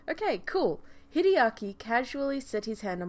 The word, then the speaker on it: Hideaki: glasses but I did one today very weird hide Archy yes I got it right I was that